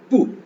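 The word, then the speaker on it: 不: நம்ம கிராமர்ல பாப்போம் ட்ரங் பூ பி யூ பூ பூ ஏற்கனவே பார்த்தோம் இந்த பி சவுண்ட் வரும்போது நம்ம இங்கிலீஷ்ல உச்சரிக்க உச்சரிக்கிற மாதிரி அவ்வளோு ஸ்ட்ராங்கா சொல்ல மாட்டோம் கொஞ்சம் அவ்வளோு ஸ்ட்ராங்கா இருக்காது ஒரு மீடியம் லெவல்ல அத ப்ரொனௌன்ஸ் பண்ணும்.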